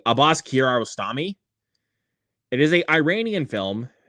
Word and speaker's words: Abbas Kiarostami: I remember to pronounce the filmmaker's name correctly. Abbas Kiarostami.